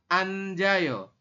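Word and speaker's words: 앉아요: kita bacanya gapsi kemudian ini tulisannya Anet ao dibacanya adalah anjo ya Saya ulangi dibacanya adalah anjayo kemudian ada lagi ilek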